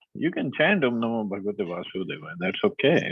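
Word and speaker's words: Vāsudevāya: Vasudevaya should be pronounced as Vasudevaya, or is it just Vasudevaya?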